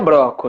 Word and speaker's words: Brocco: O certo seria Broco, né? Mas Broco. como fica meio esquisito, a gente costuma falar Broco.